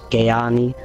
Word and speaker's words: Kanani: name uh yeah it's you pronounced it like Dutch so it's Kanani Kanani D that's awesome